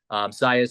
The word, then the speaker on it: Saez: Saez spelled like Javier Baez, but with an S.